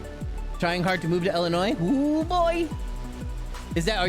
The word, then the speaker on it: Illinois: confuse the tourists Illinois I like to call it Illinois because like you know you know like Bring the Noise you know what I'm saying but yeah it's pronounced Illinois yeah it is kind